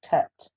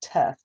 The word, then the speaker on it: Tet: And the next segment is Tet. And in here it's teth, but it's actually tet. So there's it's spelled a little different in the NASB than what it is in the Hebrew Bibles.